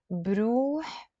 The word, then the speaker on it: بروح: You see, I'm not saying بروح with a soul. I'm saying بروح. بروح with a soul. روح is a soul and بروح is with a soul, but we're pronouncing it with a b.